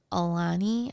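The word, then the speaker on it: Alani: to danielle okay these i think is pronounced aulani i'm not exactly sure it's a-l-a-n-i they're an energy drink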